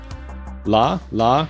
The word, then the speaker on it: Lah: over 20 years la la that's how you pronounce it the LA Gundam is